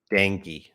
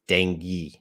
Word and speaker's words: Dengue: into this news um dang I don't know how to pronounce it dang let me get the pronunciation danky I was wrong dangy I've never said that before so that's pronounced Dengue Dengue in English Dengue all right oh okay let's